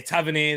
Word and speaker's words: Tavernier: the in swinger from tavernier or taverny is it yeah tavern here that's it tavernier tavernier yeah that's probably why that's probably why i'm saying it wrong actually um oh sharon's